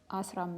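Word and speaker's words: ዐሥራ: thing with asram mist we commonly say asra missed the two ah vowel sounds merge here as well as asram mist so this is not the case with eleven which is asra and you pronounce both ah sounds separately as 20 is higher higher 30.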